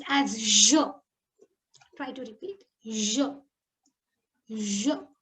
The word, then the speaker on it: je: I is pronounced as je.